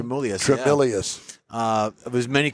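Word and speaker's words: Tremulis: pronounce his Yeah, name? Tremelius, yeah.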